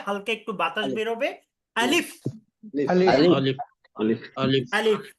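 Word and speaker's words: ا: আলিফ আলিফ হ্যাঁ আলিফ একটু টান দিবেন না আলিফ বলবেন না আপনারা বলবেন আলিফ আলিফ আলিফ আলিফ আলিফ আলিফ একটু একটু তাড়াতাড়ি উচ্চারণ করতে হবে কোন টান হবে না আলিফ আলিফ আলিফ আলিফ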